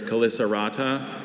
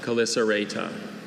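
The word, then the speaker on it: Chelicerata: Calycerata, are there any alternate pronunciations? There's Calycerata, Calycerata.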